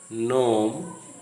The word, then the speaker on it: gnome: of the same syllable, the G is silent, as in the following words coming to your screen: sign, not, gnome, foreign, design.